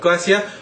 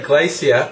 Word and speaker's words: glacier: It's actually the English pronunciation of glacier. I used to say glacier, but my girlfriend, who I went with to New Zealand, is English, and she always said glacier and basically beat me into saying glacier.